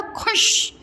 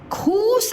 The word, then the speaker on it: खुश: खस, तो पीछे शब्द अभी आप क्या आपने पढ़ा था, खुश, खूस नहीं, खुश, ख में छोटा ओ की मात्रा, खू और श, खुश।